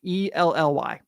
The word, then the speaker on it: Elly: If you're gonna insult Ellie, can we at least say his name right, please? It's E L Ly.